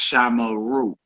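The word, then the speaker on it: שָׁמְרוּ: The perfect forms for she guarded and they guarded have 3 syllables. 3 syllables. It's pronounced shamara, shamara, and it's pronounced shamaru, shamaru.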